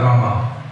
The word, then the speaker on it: Rama: You're leaving all the, you're chanting Ram, not Rama.